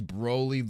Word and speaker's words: Broly: is Broly the correct, pronunciation? Yes. Oh dear Lord.